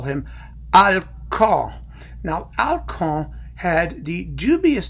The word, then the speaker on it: Alkan: with alcohol is that in English its alkane which rhymes with Kalkan which is a dog food so I'm going to